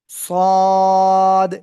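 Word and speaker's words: ص: সদ একই জায়গা থেকে উচ্চারণ হবে একটু মোটা আওয়াজে মুখের ভিতরে বাতাস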